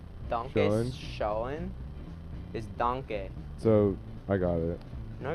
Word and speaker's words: Danke: Isn't it like Danka or some shit? Das gut. No. Why? Das gut. Danke. Danke Schön. is schön. Is danke.